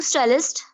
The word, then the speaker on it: stellst: Du stellst. No, du stellst. Stellst. Yeah. No extra E, only double L, ST.